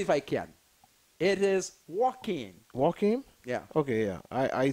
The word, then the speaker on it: Joaquin: I even can't pronounce it. Let's see if I can. It is Joaquin.